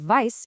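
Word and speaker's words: weiß: So, the word vice is pronounced just like the English word vice.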